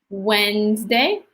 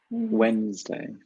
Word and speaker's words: Wednesday: day so two Tuesday Wednesday perfect the D is silent day Wednesday do not say like